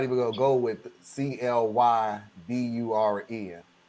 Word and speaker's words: Clyburn: I'm like, I'm not even gonna go with Clyburn. Okay, that's Clayburn. Tell me, in which part of society has the Y ever been pronounced as an A?